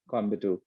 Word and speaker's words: Coimbatore: Coimbatore.